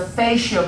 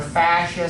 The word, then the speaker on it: fascia: The fascia board, or fascia, some people say fascia, I think is the correct pronunciation, is the front-facing board.